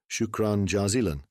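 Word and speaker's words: شكرا جزيلا: Shukran jazilan?" Mansur looked back and laughed. "Yes, John, correct. Shukran jazilan.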